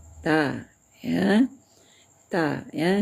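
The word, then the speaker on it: ت: Sebelum dia dibaris juga tetap bacanya ta ya. Ta ya. Jangan baca taa. Nah, jangan sampai menimbulkan angin ya. Hamas. Baca ta biasa saja ya, santai saja membacanya.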